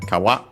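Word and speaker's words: 川: Uh it's an accent no accent on the last syable.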